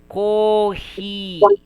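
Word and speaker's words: コーヒー: So technically this is coffee but it will be pronounced as cohi.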